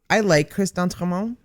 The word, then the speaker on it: Chris d'Entremont: I like Chris d'Entremont.